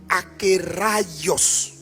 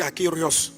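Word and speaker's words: ἀκέραιος: C'est A K E accent aigu R A I O S. Donc on prononce akios. Bon souvent moi je m' je me trompe, je dis akéos. Aerios mais c'est pas akerios.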